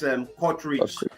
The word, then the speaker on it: Kortrijk: I don't know how to pronounce that. Okay. You mean the team that's Kortrijk.